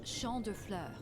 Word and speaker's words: Champ de Fleurs: How do you say that? It's champ de fleurs. It means field Champ de of flowers.